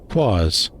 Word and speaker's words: quas: Quas, a noun, both singular and plural, referring to anything strange, incongruous, or peculiar. At its heart is the unknown, the mysterious. It rhymes with Oz.